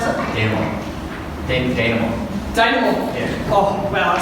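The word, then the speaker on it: dénouement: How do I pronounce it? Denouement.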